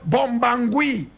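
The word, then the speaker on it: Bobangui: And he was the village chief of a place called Bombangui. Bombangui. Bombangui is spelled B-O-B-A-N-G-U-I.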